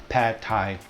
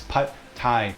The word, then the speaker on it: Pad Thai: It's Pad Thai. The A in Pad is more like the word ago, long ago, rather than the A in apple.